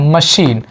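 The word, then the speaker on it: machine: जैसे French language के कुछ वर्ड यहाँ पर दिए गए हैं जिसमें CH का प्रोनाउंसिएशन शा निकल रहा है। जैसे मशीन, मशीन शा निकल रहा है ना, मशीन।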